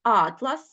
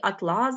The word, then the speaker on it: атлас: пісні множина Ну і атлас - це наприклад збірник карт і атлас блискуча тканина так орган і орган орган